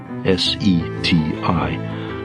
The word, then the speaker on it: SETI: Quest is called the search for extraterrestrial intelligence s e TI pronounced seti let me describe how far we've come